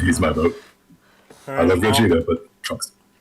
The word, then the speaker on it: Gogeta: I love Gogeta, but Trunks. Well, it's Gogeta. You said it wrong, so obviously the win goes to Trunks.